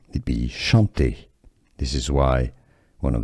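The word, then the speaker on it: Chanté: the end is Shante now CH in French is pronounced like sh so sh Shante this is the most common pronunciation now some say it as Chanty especially if it doesn't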